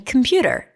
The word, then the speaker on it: computer: was an argument because he said that there is an O in computer. And I said, "No, there isn't." And he said, "Yes, I can hear it when you say it. Here, say it." And I say, "Computer." He said, "There it is. You just said an O. And I said, "No, I didn't."